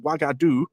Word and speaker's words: Wagadu: and then there's the origin of the name wagadu itself which oh boy so we're told that the name is pronounced wagadu as I've been pronouncing it which just so